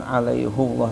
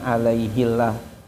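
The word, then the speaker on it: عَلَيْهُ اللَّهَ: Jadi bacaan alaihullah tadi kenapa dibacanya domah? Ya karena Rasulullah dulu ketika menyampaikannya kepada para sahabat itu menggunakan ee domah bukan alaihillah menggunakan kasrah. Itu ee jawabannya.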